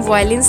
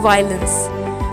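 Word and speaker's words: violence: इसको कभी भी हम वायलेंस नहीं पढ़ेंगे, इसका जो राइट प्रोनाउंस होता है वो होता है वायलेंस.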